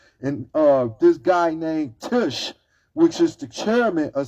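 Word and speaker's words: Tisch: from buying CBS and uh this guy named tush which is the chairman of CBS his name is spelled t-i-s-c-h he is the guy who actually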